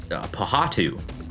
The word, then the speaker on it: Pohatu: Pohatu. Pohatu. Yeah. Pohatu. Close. There's reasons I'm not doing a quiz name on the a quiz round on the names, because that would be just Pohatu.